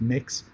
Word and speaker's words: Mx: So feel free to use MX, or which is pronounced Mix, or Mr.